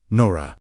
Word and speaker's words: Nura: The word at the center of this healing mechanism was Nura, pronounced Nora, meaning light, not sunlight, but the luminous, divine substance.